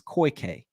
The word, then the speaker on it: Koike: I don't know if it's the hide up or the hidey up or whatever, but I know how to pronounce the second word. Is koike. Koike is how you pronounce that.